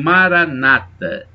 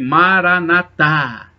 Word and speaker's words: Maranatá: Os protestantes dizem Maranata, os católicos dizem Maranatá. A pronúncia é diferente, mas o significado é o mesmo.